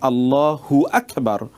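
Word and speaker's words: الله أكبر: হু আকবার যদি আপনি বলেন তাহলে মনে হচ্ছে যেন হুটা আকবারের সাথে সম্পৃক্ত। তখন অর্থের বিকৃতি ঘটে। সেজন্যে আমাদেরকে অথবা অর্থই তৈরি হয় না। সেজন্য বলতে হবে আল্লাহু আকবার। এভাবে ঠিক এমনিভাবে সূরাতুল ফাতেহা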